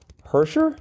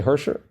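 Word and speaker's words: Hershiser: the middle after heser they don't pronounce it they just say hersher her uh that's the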